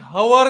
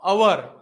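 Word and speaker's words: hour: उच्चार हा स्वराप्रमाणे आहे मी हवर नाही म्हणत मी म्हणतो अवर येतंय लक्षात अवर तर अ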